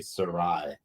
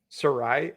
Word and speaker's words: Sarai: The J is silent. My name is basically Sarai. Sarai.